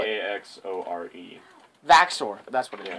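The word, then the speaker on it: Vaxore: I can't spell it. V-A-X-O-R-E.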